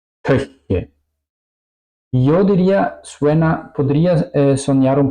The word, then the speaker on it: Köche: Lo mismo podría decir para la U. Es también súper difícil para hispanohablantes. Ejemplos: möchten, köche, möchten, möchten, querer o desear, köche, cocineros.